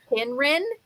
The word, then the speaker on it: Kynren: Okay, so it starts with the C, but it's a hard C. It's Kynren. K-Y-N-R-E-N.